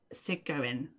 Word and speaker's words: Segouin: But we know her as Simone Segouin. Do we? I don't know how. Well, it's Simone from earlier in the story, but I'm never sure how to say her surname. It's Sigouin.